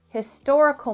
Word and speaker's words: historical: Number 8, that was a historical moment in Canadian history. Now again, this word historical begins with an H, but this H is not silent.